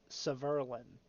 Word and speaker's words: Severin: an interview with him it's Severin apparently it's like Merlin but with S at the beginning but uh he he